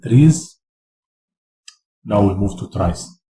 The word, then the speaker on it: trie: Now we move to tries tries pronounce Tri is a tree that